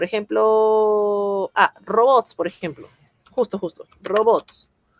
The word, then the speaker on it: robots: Robots. Robots es una palabra aguda. Robots. Palabra aguda.